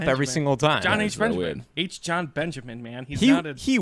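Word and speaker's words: H. Jon Benjamin: oh yeah that's John John H Benjamin is h john benjamin stop saying it wrong good what's an initial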